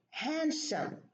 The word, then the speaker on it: handsome: For example, this word, handsome, there is no D.